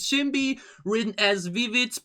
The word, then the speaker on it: SinB: me aware of the fact that i've been pronouncing shin be wrong all the time you know written as sinby pronounces shimbi written as vivids pronounced as bbc asian language